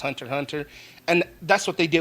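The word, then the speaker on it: Hunter × Hunter: uh Hunter Hunter or as a lot of people see it stylized Hunter x Hunter, but it's actually pronounced Hunter Hunter.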